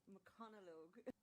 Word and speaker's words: McConaughey: Okay, it is pronounced McConaughey.